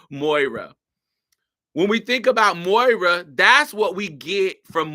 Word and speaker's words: Moira: Because I want to say Myra, but I know it's not Myra. Moira. Anyway, Moira. When we think about Moira, that's what we get from Moira.